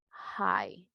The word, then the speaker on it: high: En este caso, la letra G y H no van a sonar. Entonces, ¿cómo nos quedaría? Si dice que la G y H no suenan, tengo una vocal ahí, que acaba de ser el sonido largo de la I, ¿verdad? Se recuerdan que el sonido largo es I. Entonces, ¿cómo me queda? High. High, para decir alto, high.